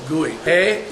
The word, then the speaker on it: Guy: No, Chewy, but I'm saying when they pronounce Guy, Oh. it's Gooey. E-U-Y, Gooey.